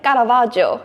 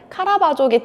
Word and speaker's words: 카라바조: 그래서 본토 발음으로 하면 원래 까라바조 이렇게 하거든요. 그래서 좀 까라바조라고 하는 사람들이 많은 것 같고, 그걸 한국어 발음으로 좀 치환을 하면 카라바조기 때문에 혼합되어서 쓰이는 것 같아요.